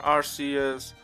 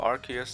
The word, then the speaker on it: Arceus: sword and shield Pokemon Arceus or Arceus depending how you want to say it um for some reason